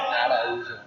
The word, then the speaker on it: Araujo: It's pronounced Araujo. Araujo.